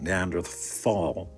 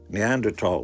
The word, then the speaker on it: Neanderthal: you're speaking to a Neanderl and that's actually the way you pronounce the word. It's not Neanderthal even though it's spelled with a T something today. Neanderl when you're speaking to